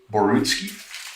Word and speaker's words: Borutski: with the big one now am i pronouncing your last name correctly is it borutski yeah okay um thanks very much for taking